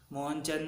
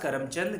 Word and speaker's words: करमचंद: तो इनका पूर्ण नाम जो है मोहनदास मोहनचंद नहीं है, मोहनदास करमचंद गांधी। मैं गलती से उच्चारण जो है अलग से किया था।